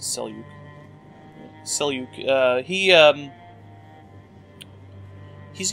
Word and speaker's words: Seljuk: Yeah, this is Seljuk. This is Seluk, however you want to pronounce that. I' I've heard pronounced both ways, but I I usually pronounce it Seluk.